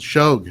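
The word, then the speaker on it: Shough: It's shog.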